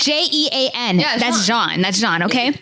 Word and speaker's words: Jean: the jamaican in uh is it john it's jean okay yes it's john nobody says gene nobody's a gene j it's okay it's j-e-a-n that's john that's john okay billie jean or billy john okay